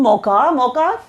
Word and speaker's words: Mocha: India's initiative to Myanmar hit by cyclone Mocha, Cafe Mocha, that is what Mocha is, and that is how we pronounce it.